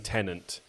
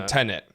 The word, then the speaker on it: Tenet: We preceded the recording of this podcast with me giving Horatio about a 3-minute lesson on how to pronounce Tenet. Because he's been saying tenant. So Tenet, which is a made-up name.